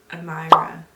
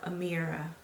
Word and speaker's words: Amira: um between andrew and amyra no amira that's how you pronounce her name amira and basically i was